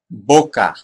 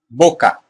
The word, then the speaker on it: boca: Boca. Boca. So, don't say it boca. Boca. No, that's a gringo pronunciation. It's boca. Boca.